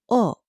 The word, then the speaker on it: を: The direct object marker has to be in the hiragana wo, even though we pronounce the letter simply o in modern Japanese.